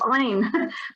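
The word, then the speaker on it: عين: did I say Hamza it's Ein sorry my mistake but it will be pronounced from your throat okay so it will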